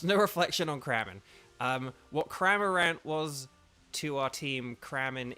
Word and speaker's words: Cramorant: So we're just gonna carry on looking for our Lotads and our Cramorants. And I am deliberately mispronouncing that for someone. It's Cramorant, not Craminrant, but it's because of Cramin in the chat.